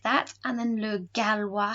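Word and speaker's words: gallois: that and then lu galwa has a double l and that's how we make that wah sound i love spanish but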